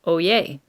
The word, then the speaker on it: oyez: open the court session oh yay means hear ye it's pronounced oh yay everyone in the courtroom